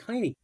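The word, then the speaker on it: Jaime: James in Spanish iy Jays are not pronounced in uh Spanish so h h j a i m e it sounds like Hy is it tiny or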